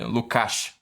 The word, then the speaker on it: Lukács: Lukács, que se pronuncia, né? Em húngaro.